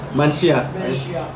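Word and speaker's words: Manhyia: My brother's gonna pronounce the name Manchia Palace. So you look at the pronunciation, that's not what it's gonna make it sound like, but that's the beautiful language of Tree and the beautiful Ashanti Kingdom energy.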